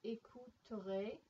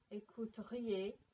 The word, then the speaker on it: écouteriez: So we've got écouterait. Oops. Écouteriez. I didn't pronounce that quite right.